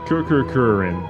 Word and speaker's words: Kururin: fantastic homage to a game that I cannot pronounce, but Kururin? Close, yeah. Kururin, which is a Game Boy Advance launch title